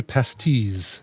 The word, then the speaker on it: Pastis: The well actually on the pronunciation TRP W Pastis is how it's pronounced. That's it's French you just don't pronounce the last syllable and just trail off like you've lost interest in the word halfway through.